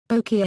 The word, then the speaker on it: bokeh: speakers, saying it is properly pronounced with bo as in bone and k as in Kenneth, with equal stress on either syllable.